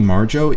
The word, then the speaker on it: Marjo: the thing about 64J Marjo is that, and I'm not mispronouncing his name, it really was Marjo.